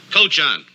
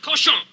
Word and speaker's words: cochon: This barn is not fit for man nor coach on. Butcher. Better to spend the time killing the roaches in your plague-ridden bistro than murdering my rhymes. The word is pronounced cochon.